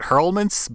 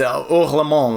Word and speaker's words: Hors le Monde: For English, I would pronounce it Hurlmans, but I know that's not correct. Yeah, it's Hors le Monde, like, you know, Howlings.